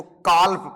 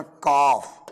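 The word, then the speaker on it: calf: तो बेटा बाबू ये काल्प नहीं है। काल्प नहीं है। इसको पढ़ेंगे अपन काफ। क्या पढ़ेंगे? काफ। एल यहां पर साइलेंट है। ओके? एल को प्रोनाउंसिएट नहीं करेंगे।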